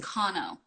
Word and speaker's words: Kanno: to to correct people and say oh it's pronounced kano you know and um but but there are